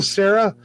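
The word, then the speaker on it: Cera: captains in it uh michael sarah is how you say his last name yeah sarah i've always felt he was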